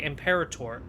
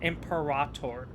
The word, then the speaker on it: Imperator: And I'm going to say Imperator because it sounds way better. I get that it's not the proper way to say it, but I don't care. It sounds so much better than Emperator.